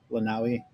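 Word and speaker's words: Lānaʻi: You can't really see them from here, but you can see Maui itself, but then Lanai, which the Hawaiians pronounce Lanaui, and then Kaho'olawe is a big one you can see.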